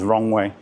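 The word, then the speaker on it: Roewe: You might see it as Roe, that's how it's spelled, but the Chinese pronunciation is Rongwei. Of course, SAIC have a few brands. MG is one, Rongwei is the other.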